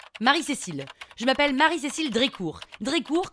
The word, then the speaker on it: Drécourt: Drécourt, comme ça se prononce, avec un T à la fin.